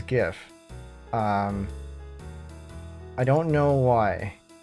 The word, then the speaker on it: GIF: extension or image format I used to say GIF with a hard G um and then I found out that the Creator prefers GIF with a soft G and now I